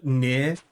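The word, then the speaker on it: Nier: Um, uh, Near. If you don't know what Near is, great game. It's spelled N I E R.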